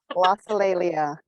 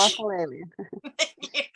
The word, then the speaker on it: glossolalia: I asked them how to pronounce this, and I'm already screwing it up. Glossolalia. Thank you. Glossolalia.